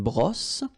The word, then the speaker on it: brosse: All right, then une brosse. Remember, don't insist on this final brosse.